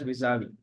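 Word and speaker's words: vis-à-vis: engaged knowledge Partners visavi I don't know VI is it visavi it's pronounced as visavi National Institute of fashion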